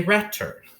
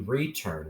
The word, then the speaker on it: return: Now, we wouldn't say return. So we know it has to be return with a long E.